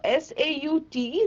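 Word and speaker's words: sauté: And S-A-U-T-E, the pronunciation is actually saute.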